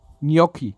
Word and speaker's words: Gnocchi: Gnocchi. Gnocchi spricht man es aus.